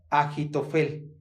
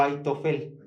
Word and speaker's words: Ahitofel: este texto se llama Ahitofel o Aitofel. Aitofel. Se puede pronunciar, depende de cómo lo vayan escribiendo, Ahitofel o Aitofel.